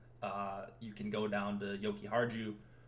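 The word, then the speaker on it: Jokiharju: can go down the yoki hard you yoky har you I think it's how you pronounce it the J's pronounced like a Y if I remember correctly anyways he is min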